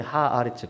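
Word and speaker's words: הארץ: 그 천은 원어에 보면 이제 샤마임 이렇게 나오고 이 땅은 하아레츠, 예레츠란다는데 이제 발음이 하아레츠 그 땅이라고 나와요.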